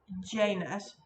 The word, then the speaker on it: Janus: honor or to honor the roman god janice i have also heard it pronounced janus across the pond um that's what i've